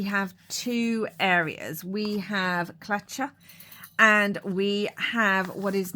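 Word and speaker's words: Tlachtga: In Irish, it's spelt strangely, as always, pronounced Clacha, I believe.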